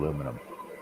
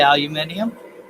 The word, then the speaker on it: aluminium: of elements except in the states it's called aluminum so the saying just say it you're all saying it wrong so in canada they say aluminium yeah because that's what that's the way it's